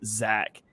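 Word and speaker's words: Zech: was yeah it's crazy it's spelled z-e-c-h but pronounced Zach yeah that one that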